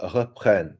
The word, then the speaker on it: reprennent: les américaines, les ukrainiennes, and then that's the ent. So reprenne. Did you hear that how it said reprenne? The verb in plural, you don't pronounce the second half.